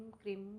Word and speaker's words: क्रीम: खींचना नहीं, बस मतलब हाँ, नॉर्मल बस क्रीम बस, क्रीम यस। क्रीम। ये इसको हम इंग्लिश में अगर एक तरीके से प्रोनाउंस किया जाए तो कैसे होगा? CRIM की KREEM KREEM क्रीम, और श्रिम के लिए SHREEM।